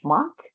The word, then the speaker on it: schmuck: And another such word, which is also phonetically similar with the sort of shush at the beginning, is schmuck.